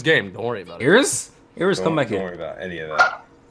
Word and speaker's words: Iris: Yeah, her name is spelled Iris, pronounced Iris.